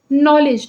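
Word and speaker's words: knowledge: जैसे देखिए नॉलेज का जो उच्चारण है बेसिकली हम उसको बोल रहे हैं नॉलेज। हिंदी में तो हम नॉलेज ही लिख रहे हैं। लेकिन इंग्लिश में लिखते वक्त यहां जो के है बीच में आ जाता है जो कि जब हम उच्चारण करते हैं तो वो साइलेंट रहता है।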